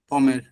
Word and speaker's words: pommes: হ্যাঁ হ্যাঁ, লেপম, এস তো থাকবে লাস্টে পমের। হ্যাঁ, লে, POMMES, যেহেতু লে দিচ্ছেন এর জন্য হচ্ছে এসটা আসবে, হ্যাঁ হ্যাঁ হ্যাঁ, বাট উচ্চারণ কিন্তু সেম, পম পম, জি, উচ্চারণ সেম।